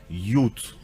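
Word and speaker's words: Yod: Ça vient de Yot. Yot, et ça se prononce Yut.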